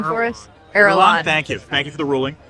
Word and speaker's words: Irulan: Does a tiny desk have a pronunciation for us? Irulan.